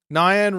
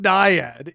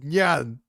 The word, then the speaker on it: Nyan: Nyan Racing Cat, but I heard it pronounced as Nyan, which is what it actually is. It's not Diad, it's Nan.